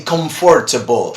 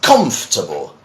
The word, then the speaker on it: comfortable: So many people try to say comfortable, or something like that. But no, you see, the English pronunciation for this is comfortable.